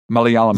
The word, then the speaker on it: Malayalam: and in this case, being how do you pronounce it again? Malayalam. Malayalam.